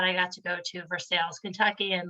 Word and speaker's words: Versailles: have it's near versailles right it is near versailles yes you pronounced it correctly it's not beer slime so